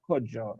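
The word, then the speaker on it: Cudjoe: Now, Kuju was another name of a, Isn't it Kojo? yeah, it is pronounced Kuju or Kojo, right?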